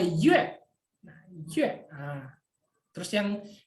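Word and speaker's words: 月: Nah, yue itu artinya bulan, ada U sama E. Nah, nadanya diletakkan di E. Kenapa diletakkan di E? Karena antara U dan E itu E yang pertama. Jadi bacanya yue.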